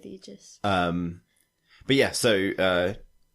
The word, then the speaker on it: Aegis: Very Room it is is it pronounced AIS uh egis I think egis yeah they usually go with egis um but yeah so